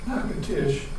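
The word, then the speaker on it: Natchitoches: and you go to nacotish or not to torches they pronounce it you'll see that it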